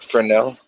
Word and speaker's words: Fresnel: Is it Fresnel or Fresnel? Fresnel. Fresnel. It's spelled Fresnel. Fresnel, but it's pronounced Fresnel. Fresnel, pronounced Fresnel. Yeah, it's just a magnifying